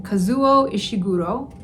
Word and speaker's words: Kazuo Ishiguro: Kazuo Ishiguro.